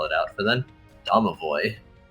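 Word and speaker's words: Domovoy: out for then davoy davoy yeah d o m o v o y that's correct I I do appreciate names that are how you say the yes none of this silent letter nonsense the Harbor Town has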